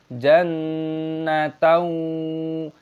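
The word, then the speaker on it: جَنَّةً: Jangan memperpanjangnya menjadi jannataau. Itu salah , seharusnya jannatan.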